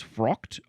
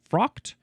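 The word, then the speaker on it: fraught: Let me check the pronunciation real quick. I believe I think believe it's frocked. Frocked.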